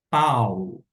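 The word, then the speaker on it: Παῦλος: Quando encontra-se o alfa e o Y, o som não será de ai, e sim de au, au. Desta maneira, a gente vai pronunciar P com o ditongo que nós temos, que é ao, pau.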